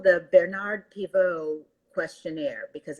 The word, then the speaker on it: Pivot: is called the bernard pivo questionnaire because it's named after a french show host who used to do the same thing but pivot is this spelled the same as the word pivot so as we are